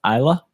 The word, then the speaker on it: Isla: it's pronounced Isla. I don't know how it's pronounced. I've There's a weird I've S always in it. heard Isla. Have you? Okay. Yeah, I've always heard Just 'cause Isla. there's that weird S.